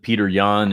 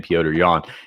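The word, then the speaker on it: Petr Yan: that you're talking about uh peter yan and the uh the uh piotr i should say i believe it's cyber pronounced his name piotr yawn and uh al-germain sterling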